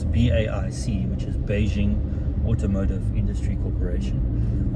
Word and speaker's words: BAIC: so we are in a bike which sounds strange to pronounce but that's how you do a say it apparently it's baic which is Beijing or